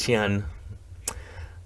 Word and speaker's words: Siyeon: i always bring it to your attention so xi'an it's it's spelled s-i-y-e-o-n but it's pronounced chian um she's just the main vocalist of the